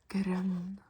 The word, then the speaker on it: grønn: Grønn. It's the Ø sound. Grønn.